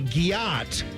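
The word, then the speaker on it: gyatt: It's the second thing because a gyat is generally speaking, a woman's, she's got a great ass. That's typically what it is. Okay. And it's spelled G-Y-A-T-T. Gyat. That's the spelling for it.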